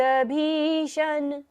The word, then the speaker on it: भीषण: लेंगे उद् भूत भीषण श कौन सा है यहां पर मुर्धन्य श तो हमें मुर्धा से उच्चारण करना है उद् भूत भीषण भ को लंबा लेते